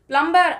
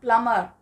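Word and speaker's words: plumber: ஸோ இந்த word எல்லாருக்குமே தெரியும் பிளம்பர் அப்படின்னு சொல்லிட்டு. பிளம்பர் அப்படிங்கிறது ஆனால் சரியான ப்ரொனன்சியேஷன் கிடையாது. இதில் வர்ற அந்த பி சவுண்ட் வந்து சைலண்ட். ஸோ நம்ம வந்து இதை கரெக்டாக ப்ரொனவுன்ஸ் பண்ணணும் அப்படின்னா பிளம்பர் அப்படின்னு தான் சொல்லணும். பிளம்பர் அப்படின்னு சொல்கிறது சரியான ப்ரொனன்சியேஷன் கிடையாது.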